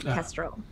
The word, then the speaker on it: Kestrel: A lot of talk in your circles of the Kestrel, and that's spelled, if you're taking notes, Kestral, like the bird. Kestrel.